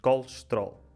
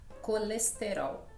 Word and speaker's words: colesterol: com muitas vogais e nós em Portugal dizemos colesterol. É como se houvesse 2 pausas e o resto da palavra junta-se como se fossem imensas consoantes. Enquanto que no Brasil, como é que vocês pronunciam? Colesterol. Portanto, cada sílaba... Colesterol, exatamente, cada sílaba e com todas as vogais pronunciadas, né?